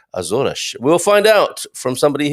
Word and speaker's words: Açores: i will you know i'll risk my uh reputation here with my portuguese pronunciation but it should be more like azornish we'll find out from